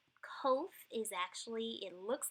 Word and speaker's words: Kof: a P-shaped figure, but it's actually a Q sounding figure. And it's kind of like the Q in quit, right sound, or you can pronounce it like a K kind of sound in kite. It's that k sound.